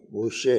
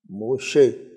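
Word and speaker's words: משה: مطابق بدل جاتا ہے۔ حضرت موسیٰ کا عبرانی نام موسیٰ نہیں ہے، موشے ہے، موشے، لیکن تعریب موسیٰ ہے۔ عیسیٰ جو ہے،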